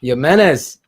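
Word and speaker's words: Jiménez: Diego Jimenez. See, I said it right. There's no J sound.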